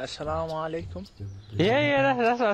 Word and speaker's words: assalamu alaikum: When you say salam, say it properly. Hey, Salaam alaikum. Salaam alaikum. Sorry. You say something. Yeah, say salam. You say salam. Say it properly. What would you mean, like assalamu alaikum?